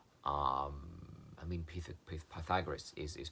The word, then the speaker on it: Pythagoras: of calabaca calavaca calavaca wrong um i mean pythagoras is is pronounced pita goddess which is far far nicer than my thigh